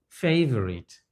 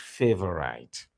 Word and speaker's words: favorite: building Granite not Granite similarly this word does not have the I sound as it is pronounced favorite favorite not favorite I'm looking at the